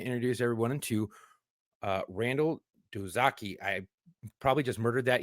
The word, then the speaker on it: Doizaki: Doizaki. Okay. How it looks. Yeah, quick and simple, just like Smith.